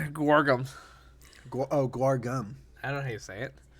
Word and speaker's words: guar gum: So there's macro, sugar, water, soybean paste, ginger, yeast, and gargum. Gargum, is that how you say it? Gargum? Guagum. All right, guargum.